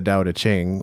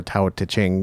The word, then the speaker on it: Tao Te Ching: to him but certainly the da to Ching or ta Ching depending on how you pronounce it would contain a lot